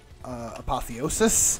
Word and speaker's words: apotheosis: I wonder, with doing a pulse build, I wonder if, basically ignoring crash damage and going for, apotheosis, apparently that's how you pronounce it, wouldn't be a bad idea.